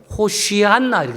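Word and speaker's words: 호산나: 아시지요 왜 그분이 하나님이시니까이 호산 나라는 단어는 그 히브리음 발음대로 언어대 하면 호시안나이 호 한 예 호한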